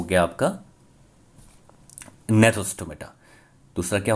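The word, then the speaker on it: Gnathostomata: इसमें जी साइलेंट है इसलिए इसको कहते हैं नेथोस्टोमेटा।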